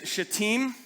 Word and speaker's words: Shittim: They set out from Shittim. Despite how you might want to pronounce that, it is Shittim. And if it's not, then at least I'm not cussing in church.